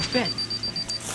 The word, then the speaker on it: fit: Pour tous les mots en 2 E, EA, IE ou E, c'est en fait le son I, comme le son du I en français. Mais pour les mots avec un I, ça va être le son E.